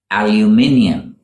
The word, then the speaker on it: aluminium: difference in spelling too Brits call it aluminium aluminium it's a light silvery gray metal used in a variety of products such as tins foils and kitchen utensils in the US it becomes aluminum aluminum interesting don't you think